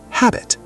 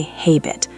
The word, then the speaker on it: habit: Word number 2, habit. Some people want to say hay-bit, but the A is short and open. It sounds like ha-bit.